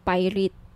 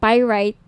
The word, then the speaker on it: pyrite: ng bracelet ito yyung pirate pyrite Sorry pyrite iyung iba pronunciation pirate pyrite Okay 1,980 each may